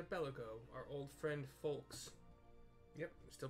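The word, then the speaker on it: Foulques: Scarcely a bell ago, our old friend Folks, yep, I'm still pronouncing it Folks, F-O-U-L-Q-U-E-S, paid us another visit,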